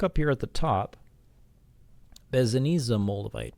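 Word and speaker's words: Besednice: And if you look up here at the top, Bezaniza moldavite, pronounced like pizza, Bezaniza. So the Bezaniza moldavite is said to be much more direct compared to quote-unquote normal moldavite.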